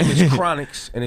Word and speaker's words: Chronixx: his name is in chronixx and it's spelled like chronic except without the sea on the end there's two x's yeah and then his